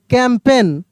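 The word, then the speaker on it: campaign: अलाइन एल आई जी एन अलाइन सी ए एम पी ए आई जी एन कैंपेन क्या पढ़ रहे हैं?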